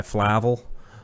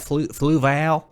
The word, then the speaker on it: Fluval: Sponsored by Flavel. Flavel, how do you say that? Fluval.